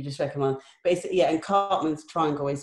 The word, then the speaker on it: Karpman: it more you just recommend basically yeah and cartman's triangle is spelt with a k just that's what came